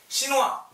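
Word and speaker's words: chinois: 시누아, 똑같이 하세요. 시누아즈. 시누아, 시누아즈. 중국인 남자, 시누아, 중국인 여자, 시누아즈. 발음 달라져요.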